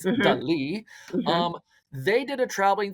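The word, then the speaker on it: Dalí: I'm saying it right so for everyone out there that says Salvador Dolly I said it wrong too it's Del um they did a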